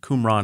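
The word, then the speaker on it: Qumran: happens near this ancient settlement called kbet kumran kumran is what typically gets called it's not a big Community can you spell that please the first one starts with a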